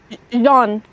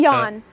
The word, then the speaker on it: Jean: Jean, it's French. Jean. Okay, Jean. Not Uh, Jan.